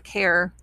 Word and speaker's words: char: you see a char c-h-a-r it's short for character and you may hear some people pronounce it as a care short for character i'll just call it